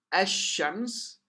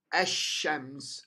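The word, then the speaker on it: الشمس: so this means that the lamb would be dropped from pronunciation it'll be silent and you can lower low part of the slides you find the lamb disappears at all from disappeared disappears between the Aleph and gene and the Sheen becomes shut de or Musa data as shams as shams on the other side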